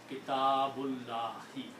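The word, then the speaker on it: كتاب الله: So in the recitation, we are going to combine this last letter ba with this la and do not pronounce this alif. So now the full sentence is Kitabullahi.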